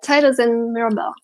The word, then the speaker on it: Titus and Mirabella: Did I pronounce that correctly? Yeah, Titus and Mirabella.